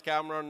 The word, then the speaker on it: Kamran: Now, you might wonder, what the hell does Kamran know about chaos? Well, my name in Japanese is pronounced Kamran, not Kamran or Kamran, Kamran.